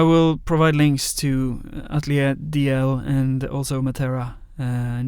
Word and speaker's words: Dalziel: uh I think well Norwegians pronounce it um very they mispronounce it very elegantly if it's mispronounced in English it's it's horrible it's yeah um but in uh in Norwegian Norwegians tend to say dalel doio which is softer a bit closer to